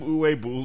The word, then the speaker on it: Uwe Boll: Can we get some Uwe Boll jewelry going? You work on saying his name, and then we'll talk about it, all right? Seriously, you're mispronouncing it. Bowl. Uwe Boll. Uwe. All right, can you please make some duvet bowls?